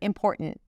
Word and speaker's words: important: She starts with an 'i' sound, then 'm' - 'im'. And then 'por' - we definitely wanna pay attention to the R here. 'por'. And then there isn't really a T there, it's a glottal stop. And then she releases the T. It's not a held T when she pronounces it, it's just 't' - 'important', 'important'.